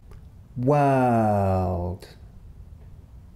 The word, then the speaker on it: world: All that remains is to again add back the sound. World.